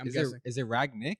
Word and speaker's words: Rangnick: The biggest takeaway with how do you pronounce it? I'm saying Rangnick from now on. Rangnick? Is it Ragnick or Rangnick?